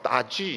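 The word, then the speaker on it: 大邱: 알고 보니까 중국 발음은 따지 이렇게 됩니다. 따지.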